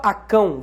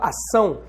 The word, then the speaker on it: ação: Então, por exemplo, ação. Você não fala acão, você fala ação. Você fala ação porque o C vem com cedilha embaixo, ou seja, o C tem som de S.